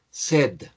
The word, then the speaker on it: said: Entonces, el pasado de say es said. La pronunciación es como si tuviésemos muchas ganas de beber.